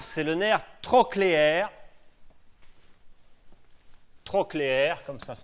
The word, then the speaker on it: trochléaire: Le 4, c'est le nerf trochléaire. Trochléaire, comme ça se prononce, T-R-O-C-H-L-E-A-I-R-E, nerf trochléaire.